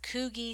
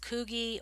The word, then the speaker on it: Coogi: I've seen this pronounced both ways, Coogi or Coogi. I actually looked up how to pronounce this word and there were two options, so however you say it is fine.